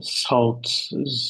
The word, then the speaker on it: through: And then she saw a face looking in through the window, but she was on the second floor. That's right. Okay. Once again, this word, Saykhan, can you read it? G H give silent. Uh-huh, so it's silent.